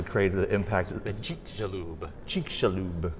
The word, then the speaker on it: Chicxulub: Chicxulub. It's not an easy word. I'll probably mess it up. It's a Mayan word, and so it's the X is a Z. Chicxulub.